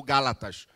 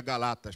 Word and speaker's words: Gálatas: o pessoal da Galácia, que na expressão do meu professor João Pereira de Andrade Silva, seria Galatas. Ele disse que quem nasce na Galácia é Galatas. Mas como a palavra Galatas ficou feia na pronúncia, então colocaram Gálatas. Mas o certo seria Galatas, porque um preletor do